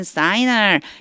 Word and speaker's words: Shinar: in Shinar, 읽기는 사이나라고 읽지만 시날이에요.